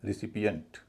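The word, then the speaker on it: recipient: तो इसका उच्चारण रे ना होके री होगा। इसको बोला जाएगा रेसिपिएंट। रेसिपिएंट ना कि रेसिपिएंट।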